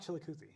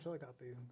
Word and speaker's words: Chillicothe: It's not Chillicothe. It's right. Chillicothe.